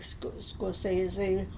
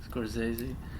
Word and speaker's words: Scorsese: You like Scorsese? Yeah, that's how you say it. Yeah. Scorsese.